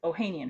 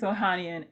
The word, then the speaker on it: Ohanian: But one of the people he dissed in the track was Serena Williams' husband, Alexis Ohanian, who used to be, I'm probably saying that wrong, Ohanian?